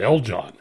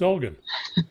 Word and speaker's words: Elgon: john i said oh my name's not el john i thought she loved that i bet she said what is your name and i said it's elgin she said well you're